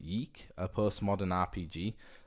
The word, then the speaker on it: Yiik: I think it's pronounced Yiik, a postmodern RPG. It's spelled Y-I-I-K, but the way the font they used was really weird because the I-I looked like a U, so I think it's pronounced Yiik.